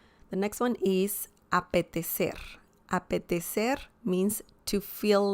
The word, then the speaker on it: apetecer: So remember the C pronunciation, apetecer, apetecer, which is, you know, from Spain, that kind of accent, and that means to feel like.